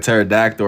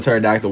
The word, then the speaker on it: pterodactyl: Like pterodactyl or however you spell it. I know what you said. The P is solid. The P and pterodactyl.